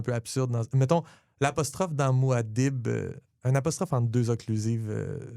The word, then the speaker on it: Muad'Dib: On l'ira l'écouter comment il le prononce, Muad'Dib. J'aimerais ça. Je pense qu'il fait comme Muad'Dib. Oui, il fait juste un arrêt. Il sépare.